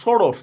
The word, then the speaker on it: ষোড়শ: এবার এখানে দেখেন এই যে ষষ্ঠ বা ষোড়শ, দেখছেন লেখছি আমি কি মূর্ধন্য ষ, কিন্তু উচ্চারণ করতেছি আমি তালব্যস্যর মতো।